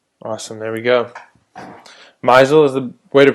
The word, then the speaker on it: Meisel: Misel is the way to pronounce it properly.